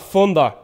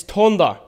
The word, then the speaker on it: Thunder: first of all actually my name is not funder it's thunder pronounce the t you're claiming that you